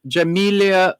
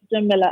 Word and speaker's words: Jamila: Hello, Jamelia. How are you? Hi, it's Jamila, actually.